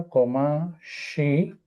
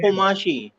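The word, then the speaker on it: قماش: मिन हादल कुमाशी। कमाशी या कुमाशी कुमाशी? कुमाशी। कु है ना, का नहीं है, राइट।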